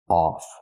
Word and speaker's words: off: The word is pronounced off. We need the aw sound like automobile, ball, and call. The sound is back here.